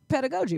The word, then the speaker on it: pedagogy: So it's the pronunciation is pedagogy, right?